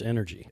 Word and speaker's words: NRG: the owner operator of NRG physio technically pronounced energy NRG energy yeah there